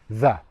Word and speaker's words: that: So my voice box is going to vibrate 'tha.' Put your hand on your throat and feel it /ð/ your throat is vibrating 'the' Okay.